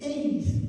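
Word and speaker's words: εἰς: es un artículo que se dice eis así mismo lo pronunciamos e dice verdad Y esta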